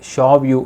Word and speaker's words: Xiaoyu: நான் ஃபஸ்ட் வார்த்தை சொல்லியிருந்தேன் பார்த்தீங்களா மக்களே, அந்த பொண்ணுடைய பெயர் ஸ்பெல் பண்ணுறப்போ XIAOYU, இதை ப்ரொனவுன்ஸ் பண்ணுறது வந்து ஷாவ்யூ அப்படிங்கிறாங்க.